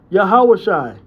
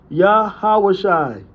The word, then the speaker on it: Yahawashi: So it would sound closer to Yahawahi or more fully Yahawashi. Yahawahi or more fully Yahawashi.